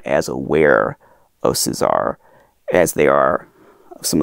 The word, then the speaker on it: César: people and the the people at the company pronounced it Cesar so that's how I'm going to pronounce it Cesar Cesar is a classic mask manufacturer in the